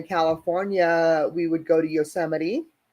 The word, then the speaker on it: Yosemite: we would go to Yosemite or as Emily pronounces it in uh Chrome Papi's yemity or we would go to